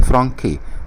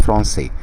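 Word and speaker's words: français: كلمة فرنسي لو شلت السيدية المعلقة دي هتتنطق فرانكي، ولكن لما حطيتها اتنطقت فرنسي.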